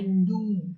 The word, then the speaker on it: knew: Green, to right and left beside my walks, I knew. I knew. That's how you should pronounce K-N-E-W.